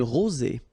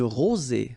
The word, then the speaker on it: rosée: Une rosée. Un verglas. Un ciel clair. Un ciel couvert. Un ciel nuageux. Une bruine. So let's see them. Une rosée, final E not pronounced.